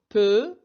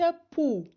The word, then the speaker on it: peu: ركزوا على كلمة peu تنطق peu وليس pou. إذا قلنا pou سيصبح معنى الكلمة قمل.